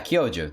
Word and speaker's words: Kyoju: I think it's also made up, but I would say Kyoju. Yeah, because like Kyoto is spelled similar, right? So is it Kyoju? Yeah, Kyoju.